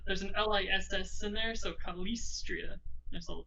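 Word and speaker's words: Calistria: l-i-s-s in there so kalistria should be like a double syllable on that s for some reason and i like this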